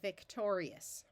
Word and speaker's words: Victorious: a little faster Victorious this suffix is pronounced just it's one syllable we don't divide between the I and the O because the I is here to make the G have its soft sound of J we want to divide